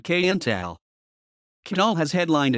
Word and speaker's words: Qntal: one of syrah's dreams its pronunciation varies among sources however syrah herself during live performances pronounces it kayental canal has headlined its